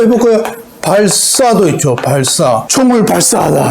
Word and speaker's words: 발사: 발사. 총을 발사하다 할 때. 시옷을 예사 소리를 된소리로 발사 이렇게 발음하잖아요. 한국 사람이 발사하다 이렇게 얘기하는 사람 없잖아요.